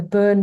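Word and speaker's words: Bön: Oh, it's called BON, so burn, but I think there's a umlaut or something on the O.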